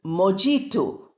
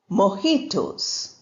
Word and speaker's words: mojito: "Okay, sir, I will get you two virgin mojitos." Arun says, "Mojito is spelt with a J. Why are you calling it mojito?" The waiter says, "Sir, the word is of Spanish origin, so the J is silent and the English sound